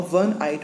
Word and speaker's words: one-eyed: Whereas in the second example, a one-eyed man, though it starts with a vowel O, however, it does not produce the sound of any vowel. Its pronunciation is one. Here it produces sound of one, V, a consonant.